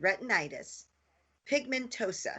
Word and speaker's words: retinitis pigmentosa: When Nancy was 16, she was diagnosed with retinitis, pigmentosa. If I didn't say that right, she can pronounce it correctly, and experienced progressive vision loss.